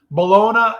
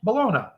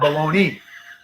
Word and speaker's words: bologna: it's how it's spelled that's how it's supposed to say supposed to say Malona not baloney there you go but